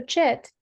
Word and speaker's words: cit: Um can you reexlain jit again? I just Yeah, it was really fast. Okay. So, chit means pure consciousness. It's spelled as CIT.